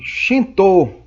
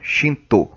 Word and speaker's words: Shinto: Só que o Shinto é como se fala lá no Japão, é o nome original da religião. Tá? Shinto vem do chinês.